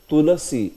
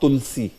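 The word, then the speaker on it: तुलसी: vind t huh see tasi also should always be spoken as tulasi not Tulsi it's not Tulsi it's tulasi yeah after La do you see AAR or no yeah so it should not be Tulsi it should be tasi yeah tasi t this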